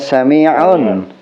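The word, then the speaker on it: سَامِعُون: Itu ada potongan ayat bacanya sami'un. Sami'un. Panjang ya, sami'un. Sami'un. Iya. Nah, jamaah ini kesulitan untuk membaca ain. Oh gitu. Bisanya nga. Bisanya nga ya.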